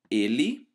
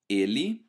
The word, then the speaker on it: ele: branco instead of branco, the E letter at the end of a word is not pronounced E, but E instead.